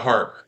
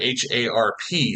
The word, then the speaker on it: Harp: their court description, uh actually spelled it H A R P. So, that makes me think that it was probably pronounced harp.